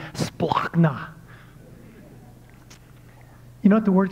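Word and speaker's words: σπλάγχνα: No, this word compassion, by the way, I love how it's pronounced in Greek, splachna.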